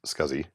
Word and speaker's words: SCSI: And yes, it is pronounced SCSI.